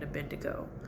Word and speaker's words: Abednego: The it was Shadrach, Meshach, and Abednego.